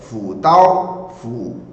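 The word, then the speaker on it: 辅导: Só que Fudao, na verdade a pronúncia é Fudao, Fudao é tutor, instrutor, professor, treinador.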